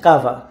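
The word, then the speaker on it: kawa: এটার যে শব্দটা, এটা হচ্ছে কাভা, এই উচ্চারণের সময় কে কে কেই বলে ওরা।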